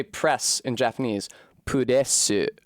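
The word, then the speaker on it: プレス: Pudesu. There's a u in the first and the last syllables that isn't actually supposed to be there.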